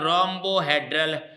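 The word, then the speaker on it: rhombohedral: और radius, radius का मतलब है रोम्बोहेड्रल, रोम्बो, रोम्बोहेड्रल, जी हाँ, रोम्बोहेड्रल। अच्छे से ध्यान देंगे, आज एच यहाँ पर जो है, एच इनमें साइलेंट रहता है यहाँ, रोम्बो, रोम्बिक, रोम्बो, ठीक, एच साइलेंट है।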